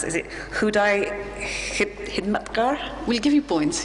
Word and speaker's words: Khudai Khidmatgar: We had a conversation before where she said, my challenge as a Brit is to pronounce, is it Khudai Khidmatgar? We'll give you points, Khudai Khidmatgar.